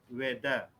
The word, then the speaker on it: Veda: Ya, itu secara Sanskerta V, tapi kita di Indonesia tetap membacanya W, Veda. Boleh juga V, tidak salah.